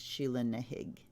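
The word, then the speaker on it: Sheela na gig: its pronoun it's spelled shilling a gig it's pronounced shilling a gig from the Celts we've got the villain Dorf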